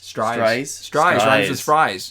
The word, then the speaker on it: Stries: This one comes from Stries. Rhymes with fries.